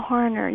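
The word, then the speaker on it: Harner: Um Michael Hner.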